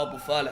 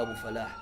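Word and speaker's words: أبو فلاح: هل هو ابو فالح ولا ابو فلاح؟ ابو فلاح اكيد. انطق اسمي عدل.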